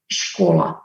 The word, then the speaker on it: škola: work school is spelled in Czech language S-K-O-L-A, so they can guess škola.